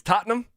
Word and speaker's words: Tottenham: It's Tottenham. If you if you say it like like like phonetically, it's Tottenham, but it's Tottenham.